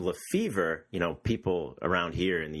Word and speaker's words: Lefebvre: But yeah, I pronounce it Lefebvre, which much like you said, is kind of the boring, English way to take a more exotic name. And, Lefebvre is obviously a French name.